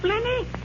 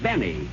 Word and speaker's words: Benny: Jack Flenny? Flenny? No, Benny. The L is silent.